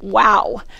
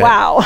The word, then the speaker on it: Wau: You'll like this name, WOW. It's W-A-U, but it's said pronounced we like that. WOW.